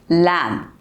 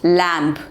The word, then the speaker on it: lamb: end of the word is silent birth sound is silent so it's gonna be lamb not lamp like thumb this is the correct pronunciation lamb